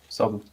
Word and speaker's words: Savu: So this is the second release of our cask strength savu. Nice. And it's This is pronounced Savu, right? And- Just or Savu.